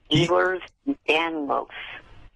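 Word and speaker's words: Ehlers-Danlos: Eers. Eers danlos.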